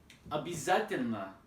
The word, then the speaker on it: обязательно: Another example is обязательно, обязательно, обязательно, right? Here the stress is on a, and at the beginning of the word, and at the end of the word, it's a, but we write o, right?